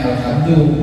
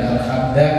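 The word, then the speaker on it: الحمد: Nah, terus Alhamdulillahi, alhamdu, bacanya alhamdu, bukan alhamda, alhamdi.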